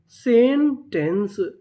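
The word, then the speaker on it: sentence: मैं आपको बता दूं एक नियम होता है, अगर आपको किसी भी मीनिंग के आखिरी में ई लिखा मिले, क्या लिखा मिले? ई, तो हम लोग ई का उच्चारण नहीं करते, यानी हम लोग ई को नहीं पढ़ते।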